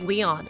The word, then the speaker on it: Lion: Okay, it's pronounced Leon.